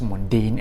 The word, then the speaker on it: Mondaine: i've pronounced it correctly i think it is pronounced mundane and not bonding or something like that and these watch dials